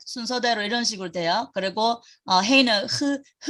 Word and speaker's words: ה: 그리고 헤이는 그러니까 그냥 이거는 가래받는 소리 아니고 그냥 해. 그 영어의 hat 모자 할 때 hat 할 때 그 h 발음이고 그러고 또 그 단어 끝에 오면 묵음이에요. 소리 안 나요.